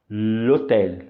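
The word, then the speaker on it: l'hôtel: juntas como se fosse uma só e a pronúncia fica lhetéia OK portanto é por isso que é por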